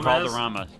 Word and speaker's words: Valderrama: Wilder Valderrama. Yeah, that's how his name's pronounced. Yeah, it rhymes.